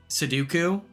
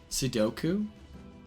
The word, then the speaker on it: Sudoku: Suduku. Suduko. What's up, Mariana? Um, how do you say it? Seduku. Is it really that? Hold on. Sudoku. Sudoku. Sudoku. Sudoku. Okay.